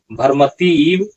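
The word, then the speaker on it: भ्रमति: भरमति ऐसा भरमती नहीं है।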